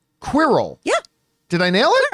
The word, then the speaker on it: Quirrell: However, this character is, God forgive me, I'm not sure I'm going to pronounce this right, Quirrell. Yeah. Did I nail it? Quirrell, yeah.